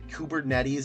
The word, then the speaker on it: Kubernetes: it's usually going to be that Docker kubernetes kubernetes is how it's said uh stuff where microser